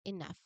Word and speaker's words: enough: At the very end of this word, the letters GH magically transformed into the F sound. We don't pronounce the letter G and H separately here. So the GH combination here makes the exact same sound as F in fish.